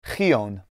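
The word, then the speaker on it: Xyōn: from the middle persian name spelled x-y-o-n likely pronounced something along the lines of creon the people referred to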